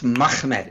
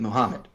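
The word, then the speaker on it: מחמד: It's a two-syllable word. It's Mahmed. It's not Mim Ha. It's Ha. And it's too harsh. You're adding a syllable in there to make it Muhammad.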